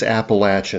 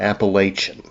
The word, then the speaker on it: Appalachian: in DC, they don't even know how to pronounce Appalachin. You know, it is Appalachin. It's not Appalachian.